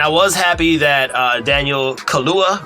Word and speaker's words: Kaluuya: And I was happy that Daniel Kaluuya, right? I said it right? Daniel Kaluuya.